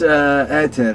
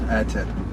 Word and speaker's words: Ae:ther: It's ether. It's ancient word. It's Greek word. Yeah. So it's ether, basically. Okay. So because you don't pronounce the A.